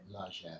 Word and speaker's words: Largen: Have I been pronouncing it correctly? Largen? Largen is correct, okay.